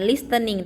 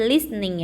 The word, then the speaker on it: listening: artinya menarik bisnis itu tehnya tidak dibaca ya jangan listening tapi listening ya listening itu artinya mendengarkan